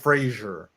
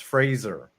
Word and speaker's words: Fraser: Frazier Brendan Fraser Fraser don't you have to pronounce his name it's Frasier I think it is Fraser Fraser not Frasier it's Fraser when at the Oscars an adult Kay Hui